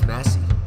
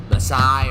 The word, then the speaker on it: Messi: And they were like, it's Messi. I was like, wow. I thought it was something else. I thought you pronounced it in another way, like Masai or something like that. But it's Messi.